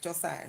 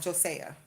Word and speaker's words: Josiah: that's like uh Joe they say his name wrong like how is this so hard jiah right Josiah not josea and when the way